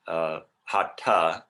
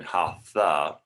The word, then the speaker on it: Hatha: First of all, it's Hatha, T-H-A, rather than Hatha, like it's typically pronounced. Right? There's no th sound. There's no f-ish sound or f sound in Sanskrit. So it's hatha yoga, and the word itself